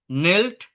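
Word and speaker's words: kneel: হাং হাং হ্যাং মানে কি ঝোলা ঝোলানো নীল নেল নেল হাটু গেড়ে বসা কেনেল না কিন্তু এটা জাস্ট নীল নেল নেল ন দিয়ে উচ্চারণটা হয় যেমন নলিজ ঠিক আছে গ্রাইন্ড করা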